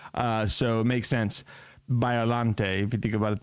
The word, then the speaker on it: Biollante: 1989 film Godzilla versus Biolante. Finally got to say it right. I was just reading it. I'm like, I don't know. But it makes sense. It's from some French poem from the 1800s.